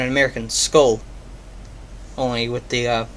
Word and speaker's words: Skoal: Apparently, Skoal is literally how it sounds.